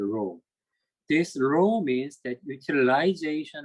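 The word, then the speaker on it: rho: this and last one the row we call it low the pronunciation is a row this row means that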